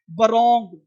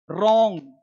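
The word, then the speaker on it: wrong: अब देखो W silent अब वो लोग पढ़ लेगा बरैप बरोंग अंशुअर स्वर्ड ऐसे नहीं डब्ल्यू रैप रॉन्ग answer sold तो पढ़ना क्या है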